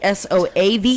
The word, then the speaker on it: Soave: Or Soave. We're gonna go with Soave. Soave. It is SOAVE. Soave. Trebbiano de Soave and Garganiga.